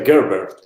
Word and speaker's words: Gerbert: It's better, Gerbert. Gerbert? That's how you pronounce it.